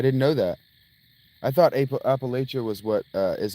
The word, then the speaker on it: Appalachia: You're pronounced Appalachia, like throwing an apple at you.